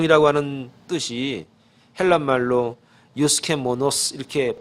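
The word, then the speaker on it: εὐσχημόνως: 그럼 이 단정 이라고 하는 뜻이 헬라 말로 유스케 뭐 너 스 이렇게 발음을 하는데 이 뜻이 어떤 뜻이냐면 이건 두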